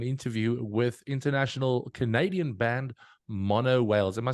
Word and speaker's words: Monowhales: of having an interview with International Canadian band mono Wales am I saying it right guys you are